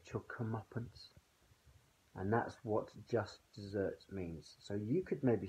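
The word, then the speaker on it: just deserts: ever heard this before as someone getting their just desserts just desserts not spelt de s the RT s which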